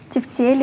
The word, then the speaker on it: тефтели: Ударение на букву Е. Каталог на О. Согнутый на О. Грошовый на О. Какую? Вторую. Тефтели на Е вторую.